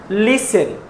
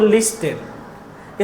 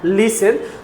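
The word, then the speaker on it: listen: तो लिसन टू me this is a pronounce लिसन नॉट लिस्टन इसका right pronunciation है लिसन तो हम लोग इसे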